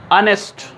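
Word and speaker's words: honest: ऑनेस्ट, एच is silent, ऑनेस्ट का क्या मतलब है?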